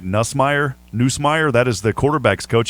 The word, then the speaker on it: Nussmeier: Doug, I've got to say his name right, Nussmeier, that is the quarterback's coach.